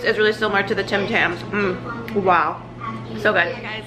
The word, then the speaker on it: Tim Tams: got from trader joe's i said it wrong previously i said tam tams they're called tim tams the australian like cookie